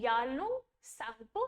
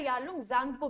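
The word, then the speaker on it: Yarlung Tsangpo: नाम है, ठीक है, तिब्बत में इसको कहते हैं यारलुंग सांगपो, ठीक है, यारलुंग सांगपो, स्पेलिंग है YARLUNG, यारलुंग, TSANGPU, सांगपो, ठीक है, यारलुंग सांगपो या फिर यारलुंग जांगपो भी कह लेते हैं, ZANGPO, ठीक है।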